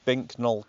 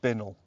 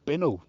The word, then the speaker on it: Bincknoll: yeah, if you try and say this phonetically, it's Bincknoll Castle, but apparently you're supposed to pronounce it Bincknoll. Oh, Bincknoll, right.